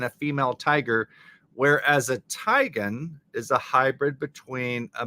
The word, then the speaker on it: tigon: Tigon. Lion, Zion, tigon. Tigon. We're going to say it like that.